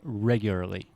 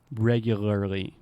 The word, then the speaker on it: regularly: end it's easy to put a little stress at the beginning so I will say regularly but do I say the lar ly regularly okay regularly yeah I would just focus on putting a stress on the first part and that should help